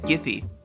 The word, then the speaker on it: Giphy: the native collection website giphy says that their name is pronounced with the hard g which is super weird